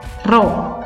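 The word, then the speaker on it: rho: itu bentuknya untuk hurufnya seperti huruf P Tapi bacanya apa Rodja bacanya roh seperti satuannya apa kg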